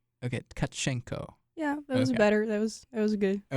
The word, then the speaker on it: Tcachenco: of 10 okay how about you try to pronounce your last name okay so it's kachenko okay kachenko yeah that was better that was that was